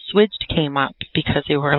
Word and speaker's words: SWIGCH'D: up with the with the name well it's pronounced switched and it means to switch or change your